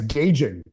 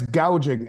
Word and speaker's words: gouging: She said it last night, price gauging. It's price gouging, and they're not gouging anything.